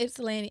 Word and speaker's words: Ypsilanti: Ypsilanti.